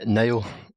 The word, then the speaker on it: Nile: Yeah, it's pronounced Nile. There's a lot of debate over that because technically I am named after the river in Egypt. So people kind of debate how you pronounce that, but I pronounce it Nile.